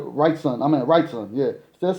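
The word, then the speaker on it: Wrightson: said righton I mean right son yeah instead of saying righton I was saying Weinstein now that um I was saying it wrong the whole time so thank you everyone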